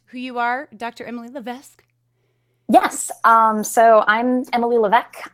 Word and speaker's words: Levesque: It's a difficult name to pronounce because it's very French Canadian. So, yeah. Levesque, guys. Levesque. Levesque. Okay, so that's a silent.